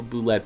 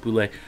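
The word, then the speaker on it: bulette: name the boules Sublette spell boo let but it's pronounced boo lick we'll see so yeah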